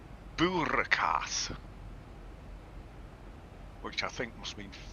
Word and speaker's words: boerenkaas: But spelt with an N that you don't say. Boeren, yes. Yeah. It's the Dutch version. We just drop the N at the end.